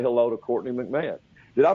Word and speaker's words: Courtney McMahon: Say hello to Courtney McMahon. Did I pronounce that right?